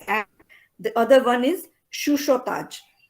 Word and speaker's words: chuchotage: वो जो CHUCHOTAGE है, that is to be pronounced as shushotaj. ठीक है, इसको चूचो नहीं करना, सब लोग ऐसे ही करते हैं. This has to be pronounced as shushotaj. Okay, it's actually a French word.